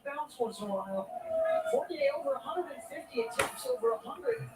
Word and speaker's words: Fournier: Can someone explain to me why Toby Fournier, I guess the R is not pronounced, right?